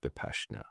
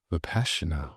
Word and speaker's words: Vipassana: I think it's actually pronounced Vipassana. Vipassana.